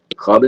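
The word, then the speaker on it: خواب: वाव मादूला हो जाएगा, यानी कि यहाँ पर जो वाव है वो कैसा होता है? साइलेंट होता है। ठीक, याद रखना। और इसकी पहचान क्या है? वाव के बाद अलिफ आता है और वाव से पहले खाब आता है या खा आता है।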